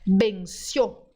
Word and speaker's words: venció: Você tem que dizer venció. Venció. Tá vendo? O.